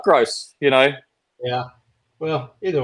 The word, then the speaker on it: Gross: do you say your last name it is gross that's what I was told yeah they didn't give you gross I called you gross because I thought maybe it's not gross you know yeah well either way it is